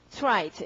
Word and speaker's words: trite: 이걸 읽을 때는 trite 이렇게 읽어야 되고요.